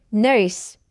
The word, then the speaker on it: nurse: Sa salitang nurse, yung letter U ay magiging letter E. Dahil kapag bibigkasin natin yung nurse na word, magiging letter E yung sound ng letter U. Kaya siya N-E-R-S. Nurse.